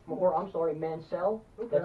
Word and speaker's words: Mansell: shot at the championship tonight but Lord Robert Mansell or I'm sorry Mansell that's how he told me to pronounce it mm-hmm he gets a shot at